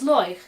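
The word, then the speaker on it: Láeg: Now I always spell it L, A with a fada, E, G, and pronounce it Loich.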